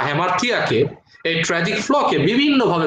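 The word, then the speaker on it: hamartia: ভাষায় সেই শব্দটাকে তিনি বলেছেন হ্যামার্থিয়া, অনেকে সেটাকে হ্যামার্শিয়া উচ্চারণ করে, হ্যামার্থিয়া।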